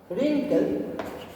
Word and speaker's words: wrinkle: Wrinkle yellow. Wrinkle. W silent है उसमें।